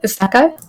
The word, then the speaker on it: isekai: I think that's how you pronounce it, Isekai.